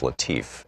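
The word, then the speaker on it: Latiff: Our book today is Future War, Preparing for the New Global Battlefield by Robert, I believe it's pronounced Latif, L-A-T-I-F-F.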